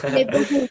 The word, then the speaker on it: neighborhood: Esse GH que você tá vendo, ele não é pronunciado.